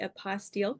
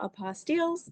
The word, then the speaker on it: apostille: dictionary does say like AH, so apostille, Hmm.